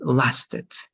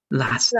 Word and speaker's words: lasted: When the word finishes or ends in t, the e is going to be noticeable. So this is going to be lasted. Lasted.